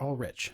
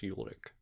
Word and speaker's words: Ulrich: Is it or all rich? All rich. Technically in German it's ulic.